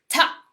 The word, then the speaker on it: Ptah: Yes, the pronunciation is Ptah.